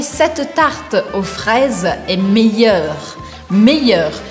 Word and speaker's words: meilleur: Meilleur, meilleur. Eu quero que você esqueça que tem um L aqui no meio e que você pronuncie como se fosse um I.